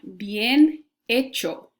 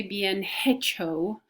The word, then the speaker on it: bien hecho: don't want to say bien hecho okay that when that H is my first letter in Spanish it's it's very silent or very slightly pronounced so be in agile